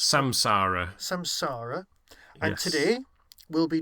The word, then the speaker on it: Samsara: time we did thanks to the memory and Sam Sola which I can never pronounce samsara samsara and today we'll be discussing my take